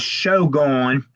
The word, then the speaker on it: SHOGONE: It's SHOGONE 88, which I would pronounce that as Shogun.